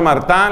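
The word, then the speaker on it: Martin: Como los esposos de apellido Martá, se escribe Martín, Martá. ¿Los papás de quién? Ambos canonizados. ¿Los papás de quién? Apellido Martín, se pronuncia, se escribe, pero se pronuncia Martán.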